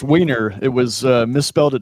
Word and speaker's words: Wiener: And I don't want to mispronounce his last name. what is your last name, brother? It's Weiner.